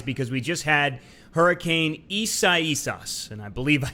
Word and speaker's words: Isaias: And, you know, maybe this was a blessing in disguise because we just had Hurricane Isaias, and I believe I said that right.